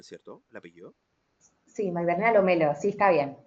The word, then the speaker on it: Lomello: Espérame, la pronuncié bien, ¿cierto? ¿El apellido? Sí, Magdalena Lomelo, sí, está bien. Lomelo, perfecto. Lomelo.